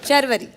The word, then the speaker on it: शर्वरी: शर्वरी। शर्वरी। बिल्कुल जी, बिल्कुल फरवरी जैसे।